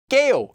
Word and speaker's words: 게요: and also note that due to sound change rules this KO form is actually pronounced as GA okay so let's do